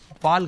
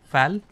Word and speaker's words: FAL: Fal gun. How do you say it? Fal? I will call it Fal gun.